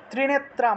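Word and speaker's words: ত্রিনেত্রাং: মুন্ডামালিনী মুন্ড মালিনী এইভাবে ত্রিনেত্রাম ত্রিনেত্রাম অনুস্বার থাকায় ম উচ্চারণ ত্রিনেত্রাম রক্তবসানাম রক্তবসানাম অনুস্বার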